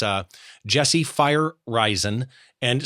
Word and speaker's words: Feyereisen: it's it's uh Jesse fire risen and spell that really quick so people can Google it sure Jesse j-e-s-s-e fireizon f-e-y-e-r-e-i-s-e-n okay perfect so people